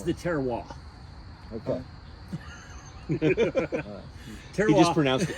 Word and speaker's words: terroir: It's the terroir. Okay. Terroir. He just mispronounced a word.